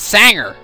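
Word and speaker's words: Zengar: It's not Zanger, it's Sanger!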